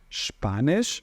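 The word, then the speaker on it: Spanisch: a gente pronuncia CS como se fosse o x do carioca tá então é panege não é panes tá spanis significa espanhol Onde posso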